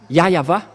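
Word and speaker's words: Yahweh: Il s'appelle Yahva, le grand-père Moshe a prononcé son nom, Yahva. Ici, c'est bien célèbre. Ici, chez les orientaux, ils prononcent vraiment le W par un V ou par un B.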